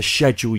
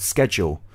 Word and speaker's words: schedule: very busy schedule so for the verb to shedule you in she dropped the C but the noun a schedule she said schedule so if you're someone